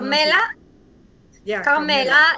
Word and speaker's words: Carmela: Yeah, Carmela. It's one L. Carmela. Like you say Carmela? Carmela. We have Okay. Yeah, in my local language we call it Carmela. Carmela. Carmela. Yeah. It's more music, Carmela.